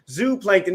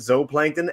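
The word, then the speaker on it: zooplankton: really Niche thing but almost everyone pronounces it Z Plankton and I'm in the zoo camp so thank you very much for joining me because it should be Zoo because it's spelled like zoo and together we're gonna fight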